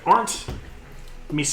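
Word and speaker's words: Misains: human man um named aren't Ms I think that's how I pronounce that like these aren't me signs m i s a i ns German name um and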